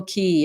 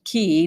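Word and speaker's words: Cay: We sailed to the Abacos and their magical out islands like Green Turtle Key and Elbow Key, pronounced Key, not K, a fact I never knew until that live aboard year, despite having lived in Florida for years.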